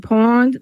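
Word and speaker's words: pwned: It is called Have I Been Pawned? pawn is spelled P W NE D.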